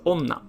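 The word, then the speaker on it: 女: unorthodox this is how you write it it's pronounced as onna by itself so first you have this little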